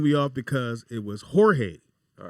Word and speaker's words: Jorge: Spanish threw me off because it was Jorge All right. spelled with the J, but it's pronounced with an H.